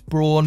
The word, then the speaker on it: Braun: get into this one yes i am pronouncing its brawn because that's how it's marketed in the uk at least at braun we